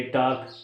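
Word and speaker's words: talk: जैसे CALM काम, WAL के वाक, TAL के टाक, यानी कि L के बाद जब भी कोई कंसोनेंट आता है तो W खामोश हो जाता है।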